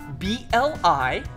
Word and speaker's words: Blippi: Yeah, let's spell it together. Ready? B-L-I-P-P-I!